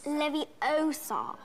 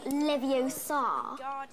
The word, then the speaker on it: Leviosa: someone's eye out besides you're saying it wrong it's leviosa not leviosa you doing then if you're